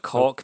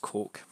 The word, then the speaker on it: Koch: It looks like cock, but it's pronounced Coke.